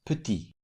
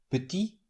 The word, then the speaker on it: petit: In the first word, the final T is silent put, but it's pronounced in the derivative word putit, which in this case is the feminine form of the adjective. What makes the final consonant pronounced is the vowel e added at the end. So the masculine form is put with silent t at the end and the feminine form is with pronounced ty petit.